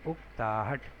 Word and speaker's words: اکتاہٹ: والا، مدد دینے والا۔ اور 6واں لفظ ہے اکتاہٹ، اس کے صحیح تلفظ سے بدل جائیے، اکتاہٹ۔ اکتاہٹ جس کے معنی